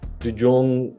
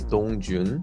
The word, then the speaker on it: Dongjun: We are here today with Dujong, I believe. Am I saying it right? My name is Dongjun. Dongjun. Okay. Yeah, not like that, but Dongjun.